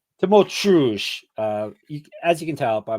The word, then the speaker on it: Tymoteusz: Tymoteusz.